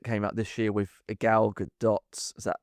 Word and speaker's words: Gal Gadot: It was the remake, the live action remake that came out this year with Gal Gadot. Is that how you say her name? Gal Gadot. Gadot.